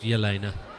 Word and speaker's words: Jelena: Oh, it's pronounced Jelena.